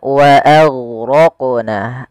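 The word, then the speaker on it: وَأَغْرَقْنَا: Kemudian pelafal wa aghraqna, a tipis, ghainnya tebal. Nah, ini juga huruf ghain sering terjadi, intabihu, hati-hati jangan sampai memantulkannya.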